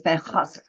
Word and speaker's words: Van Gogh: Those are easily pronounceable words, but I think the Dutch pronunciation is rather difficult and always sounds forced to Yes, me.